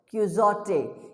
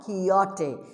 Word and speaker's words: Quixote: Like in Don, it is not Don Quixote. It is Don Quixote because X is silent.